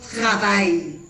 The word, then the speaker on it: travaillent: Recuerda que yo les dije, cuando es verbo, ENT no se pronuncia.